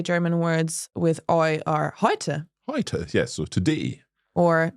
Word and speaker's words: heute: I mean, So- it is similar to the sound oi in boy or Yeah.